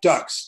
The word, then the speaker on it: Dux: But it just happens that I spell it Dux, and most people pronounce that, Dux.